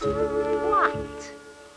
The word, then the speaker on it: what: today and it is what what what is it and it's also the name of alfred's book and we are masquat because it rhymes with pot pot all right now